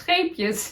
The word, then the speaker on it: Scheepjes: There's a Dutch yarn brand called Scheepjes, and you English-speaking people, you can't pronounce scheepjes the right way. Scheepjes, scheepjes. The is really a Dutch thing, I guess. Maybe you do have it in German.